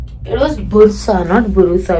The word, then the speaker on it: Bursa: इट वाज़ बुरसा, नॉट बुरुसा। आई was pronouncing it wrong.